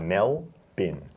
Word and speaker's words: Melbourne: one can we man it's Melbourne Melbourne yeah like a bin just like Mel bin okay yeah McKay nearly